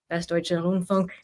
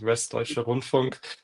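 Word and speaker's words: Westdeutscher Rundfunk: And so for those of us who may not be familiar with what WDR, Westdeutsche Rundfunk, and ARD, I'm not going to try pronouncing that one.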